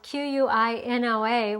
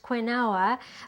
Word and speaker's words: quinoa: to show you how to make quinoa quinoa is spelled qu i n o a which would make you think that it was pronounced quinoa but it's actually pronounced quinoa and quinoa is